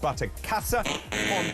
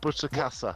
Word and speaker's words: Butterkäse: Now, the fondue was actually made with butterkäse. David's pronunciation of the German cheese, it's not butterkäse.